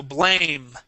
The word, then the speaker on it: blame: Yeah, the E is silent at the end, so blame.